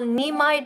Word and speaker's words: Nimai: So, I want you to Google Nimai Delgado. Nimai, I'll spell it for you and you can go and Google him and go and check him out.